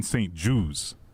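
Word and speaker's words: St-Juste: So, Ashton Rottman and I found a video of him introducing himself and he says Benjamin St. Jews. Jew juice like a Jew like the stuff you talk that's how I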